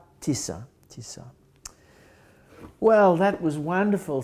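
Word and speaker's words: Tisza: the river right you see how do you pronounce it TI Tisa Tisa Tisa well that was wonderful thank you so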